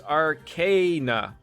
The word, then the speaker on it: arcana: It's a regional dialect difference. Actual dictionary pronunciation is Arcana.